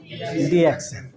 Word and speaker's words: DXN: है, एक वर्ड है, जहाँ पर ए को और ई को दोनों को उच्चारण में हम लोग नहीं बोलते हैं, साइलेंट है, इसलिए पूरे वर्ल्ड में इसको क्या बोला जाता है? डिएक्शन।